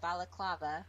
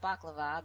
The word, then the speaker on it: Balaclava: rudolph we got rudolph he came from um balaclava not baklava but balaclava i've learned how to say it i keep saying baklava and i'm like what the heck is wrong with me because that's what it looks like all right let's mosey